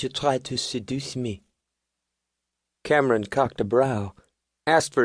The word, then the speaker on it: Cameron: "You're a bad boy, Cameron." The accent was on the last syllable.